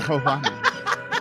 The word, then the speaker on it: marijuana: Marijuana. Because the J's for Americans back then, they didn't know the J made the huh sound.